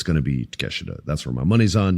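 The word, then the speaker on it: Takeshita: his name cuz it looks like an American would say Takashida but it's Teesha.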